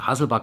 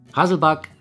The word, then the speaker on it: Hasselback: liebe hungrige Fächer bzw hasselback Kartoffeln hatten wir schon hier auf dem Kanal allerdings eben mit normalen und nicht Süßkartoffeln hasselback der Begriff kommt übrigens aus dem Schwedischen und wird also nicht englisch ausgesprochen wir bereiten heute also